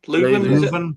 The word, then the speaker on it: Leuven: pronunciation. O-H Leuven? Leuven.